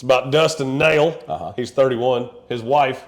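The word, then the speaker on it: Nehl: Rusty for sure not it's spelled NE e h l but yeah I mean the the okay I I can't I guess it could be Neil but there's no a in it no I would say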